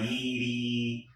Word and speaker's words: Yde: in that lane, because I always considered Kira Kosarin, Brianna Yeedy, which is spelled BreanaYde, Brianna Yeedy, Amber Montana, aka Amber Frank, like, you know, what's her name?